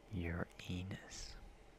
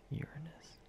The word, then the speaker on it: Uranus: Your anus. I do pronounce it Uranus, but I do know people pronounce it Uranus.